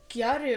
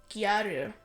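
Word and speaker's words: gyaru: power type thing and then Japanese have a difficult time with pronouncing the letter L so it became G garu that's how we get guu over time very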